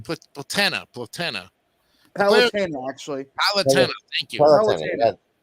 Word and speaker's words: Palutena: world, Angle Land, and its ruler, the goddess Platuna, or Platunia? Yeah. Am I pronouncing that right? Platana. Palutena, actually.